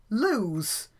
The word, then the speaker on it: Lewes: spelt le w es and it's pronounced loose so the establishment is called Her Majesty's Prison loose here's a picture of